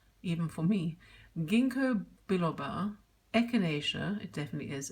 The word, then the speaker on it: echinacea: diets included a variety of supplements with near unpronounceable names, even for me: ginkgo biloba, echinacea, it definitely is echinacea, and others that collectively formed an entirely new lexicon for the three grocers.